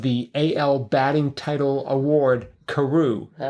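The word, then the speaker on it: Carew: Karu. Karu. Karu. Yeah. And you knew how to spell it.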